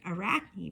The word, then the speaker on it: Arachne: In ancient Greek, Arachne, pronounced Arachne, means spider.